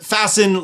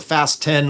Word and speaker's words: Fasten: Next up is the Fasten leveling blocks. So apparently I've said it wrong in the past. I call them the Fast 10 leveling blocks. They're fast to use. There's 10 of them, Fast 10.